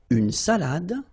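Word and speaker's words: salade: aage all right then salad Cafe all right so salad same thing here final you don't insist on it it only gives you the pronunciation of the previous letter so D salad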